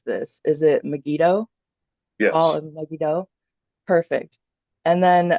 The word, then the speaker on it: Megiddo: away so um I don't know how to pronounce this is it megiddo all Meo perfect and then um lies of